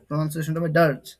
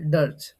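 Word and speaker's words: dirge: কবিতা মনে রাখা ডিজ ডিজ বা ডার্চ এটার উচ্চারণটা কি হবে ডিচ বা ডার্চ ডারচ ডার্চ ডার্চ ডার্জ মানে মানে অন্তষ্টি ক্রিয়ায় গাওয়া করুণ গান অন্তষ্টি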